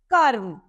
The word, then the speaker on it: कर्म: जैसे उदाहरण के लिए कर्म है तो क और म और ऊपर रफ की मात्रा व्यंजन म से पहले हमें र का उच्चारण करना पड़ेगा कर्म क्यों क्योंकि रस की